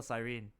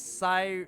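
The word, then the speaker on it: Cyrene: No, you pronounce it as sirene, but added an invisible e. Siren. Oh, what? It's just siren.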